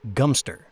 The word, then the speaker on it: Godmanchester: It connected Cambridge and Godmanchester, pronounced locally as Gumpster.